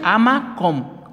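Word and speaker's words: HaMakom: Se escribe con H, Amakom, con K.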